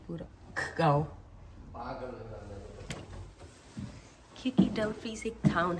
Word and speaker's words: Dumfries: पहले हम इसको डम्फ्राइज पढ़ देते, क्योंकि लिखा उन्होंने डम्फ्राइज ही है, बस प्रोनाउंस वो डम्फ्रीज करते हैं।